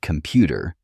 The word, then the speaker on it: computer: For example, in the word computer, the second syllable, pu, is stressed.